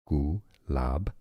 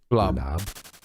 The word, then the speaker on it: Gulab: Gulab, with a stress on that second syllable. Gulab.